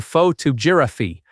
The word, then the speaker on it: photography: But photography changes to faux tuberi with stress on the second part instead.